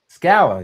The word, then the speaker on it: Scala: a uh I think it's pronounced is it pronounced scall scala? Scalla.